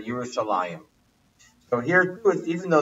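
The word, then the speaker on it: ירושלים: where it says Yerushalayim, but the second yud is missing. So it would actually, if you just read it just by the letters, it would be Yerushalayim. But we know that we pronounce it as if the yud is there, Yerushalayim.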